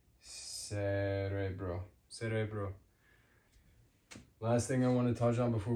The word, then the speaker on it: cerebro: it's a hard kamar soft what does it sound like soft um Cerebro brain. Sounds like sro sounds like letter essay. Cerebro.